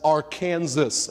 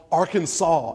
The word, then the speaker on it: Arkansas: those old laws because they didn't want to be associated with Kansas they didn't want to be the other Kansas and so it was called Arkansas actually it's an old